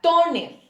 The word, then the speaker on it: tóner: Luego tenemos la palabra tóner. También termina con R. Tóner entonces va acentuada y es una palabra grave porque su fuerza de voz recae sobre la penúltima sílaba.